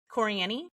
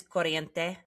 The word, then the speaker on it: Corriente: And so there's, when I tell Coriani. Okay. And it's Corriente, is really how it's said, I think.